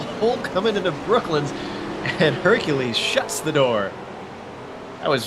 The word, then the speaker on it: Hercules: I think you're saying it right because he's Brazilian. If it was French, I would say it's Hercule.